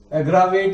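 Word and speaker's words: aggravate: एग्रावेट इसका actually pronounce है, but actually मैं इसको बोलता हूं आगरावेट।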